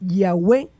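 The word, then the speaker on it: Yahweh: Formas de abreviaturas como el ya que aparece en el aleluya, que significa alabada ya, sugieren que la primera sílaba es ya.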